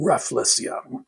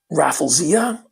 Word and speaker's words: Rafflesia: and Hoya species Rindu Rafflesia. And I still haven't figured out how to pronounce the second part of that. It's like raffle with sia on the end of it.